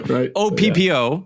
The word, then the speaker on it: Oppo: had some social media questions how do you pronounce it oh yeah okay there you go so Oppo yes that's actually that just sounds hilarious but